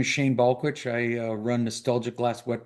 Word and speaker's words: Balkowitsch: So Shane Balkowitsch, is that right, Shane? Did I pronounce it or butcher it? Balkowitsch. Balkowitsch, thank you.